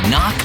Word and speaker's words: knock: And a silent K is also the first letter in knock over.